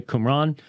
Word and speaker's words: Qumran: the book of discipline from from qumran that's how it's pronounced by the way qumran um I had to